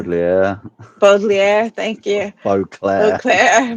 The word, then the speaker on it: Baudelaire: He's got that same passion, like how Leslie and I were talking, unable to believe that uh, Beauclair, I think it was, say the name wrong. Baudelaire, Baudelaire, thank you.